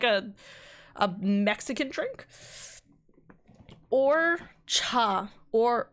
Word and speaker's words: horchata: Or cha, or so you don't pronounce the H, okay?